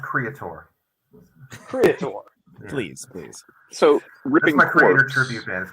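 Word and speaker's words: Kreator: Riff yeah kinda yeah it's pronounced Creator please please so ripping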